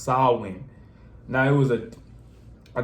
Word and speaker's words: Samhain: before it was called Halloween it was called sawin It's pronounced it's it's pronounced when you look at it it looked like it's spelled a different way or it said a different way but it's really pronounced SN now it was a a day that people